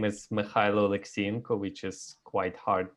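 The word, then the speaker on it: Mykhailo: My name is Mikhailo Alexienko, which is quite hard to pronounce for a lot of people. And Mikhailo, it's Ukrainian.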